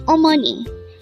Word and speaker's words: 어머니: Omani or money again our virtue today is Omani it is pronounced as a three-syllable word professional voice oh second